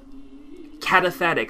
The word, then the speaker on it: cataphatic: were not ready to hear the positive or cataphatic, how do you pronounce it? Cataphatic. Yeah, however that word is pronounced. Cata something. Cataphatic, I was right.